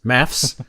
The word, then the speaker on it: MAFS: Audio Parasites, thinking of doing a small run of MAFS, pronounced maths, panels for the Behringer Abacus under piss take panels.